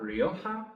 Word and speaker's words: Rioja: the Ohio River so it's the Rio OHA Rioja um to pronounce it properly you should get a little bit of a real hot kind of a sound in there I'm not going to